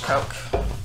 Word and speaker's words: Koch: sander 29 a former coke employee which by the way k-o-c-h coke if you're wondering what like not uh